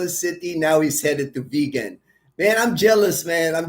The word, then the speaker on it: Vigan: And then the vegan longanisa, not vegan like vegetable, but vegan is a city in the Philippines. It's spelled Vigan.